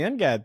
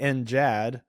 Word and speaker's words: NGAD: So we're doing the NGAD thing, and then there's the Navy has the NJAD. It's pronounced the same, but with a soft G.